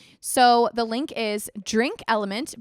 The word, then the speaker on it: LMNT: So the link is Drink Element, but Element is spelled LMNT.